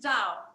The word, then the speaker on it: Zhao: You're right, it's Zhao. You said it right.